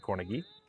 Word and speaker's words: Cornegie: Asked him today during pictures how he pronounces his name. He corrected me, Cornegie.